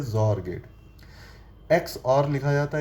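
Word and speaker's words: XOR: एक्स का pronunciation Z से भी हो सकता है, इसीलिए इसे जॉर गेट कहते हैं।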